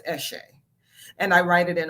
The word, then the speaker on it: Eshe: But for me and my company, it's pronounced Eshe.